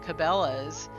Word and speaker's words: Cabela's: sporting goods company called Cabela's if we stress the first syllable instead of the second like the common pronunciation we get common laws